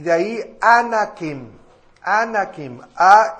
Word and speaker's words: Anakim: de los hijos de anak y de ahí anakim anakim a n a k i m posteriormente